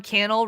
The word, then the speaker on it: Cannell: I mean, gets to say Cannell rhymes with channel.